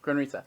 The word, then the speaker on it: Grundrisse: In his Grundrisse, how do you say that? Grundrisse? Grundrisse, there you go.